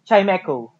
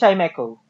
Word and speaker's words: Chimecho: Chimecho. Okay. It's Chimecho. Okay. It's chime and echo.